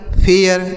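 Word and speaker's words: fare: एफ ए आर ई फेयर एफ ए आर ई फेयर हो गया डी ए आर ई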